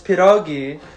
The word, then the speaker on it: pierogi: look for rogies B you're pronouncing it wrong it's piragi and C um time to